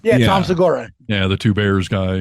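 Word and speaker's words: Segura: Tom am I saying his last name right seura is that how you say his name yeah Tom seura yeah the two bears guy he's funny dud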